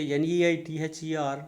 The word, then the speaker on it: neither: Some people used to say NEITHER as neither. No, it is not neither, it is neither.